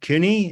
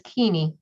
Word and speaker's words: Keeney: Is it Cooney? Is that how you say it? It looks Cooney. It's Keeney.